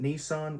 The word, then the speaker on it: Nissan: And just go watch him for free or you can go to uh you'll pronounce it Nissan, we say Nissan in Australia.